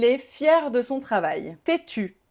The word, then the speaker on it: têtu: Tétu, même prononciation au féminin et au masculin.